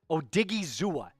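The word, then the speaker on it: Odighizuwa: the Bears oza ID igy digy zua right o digy zua that's how you say his name he signed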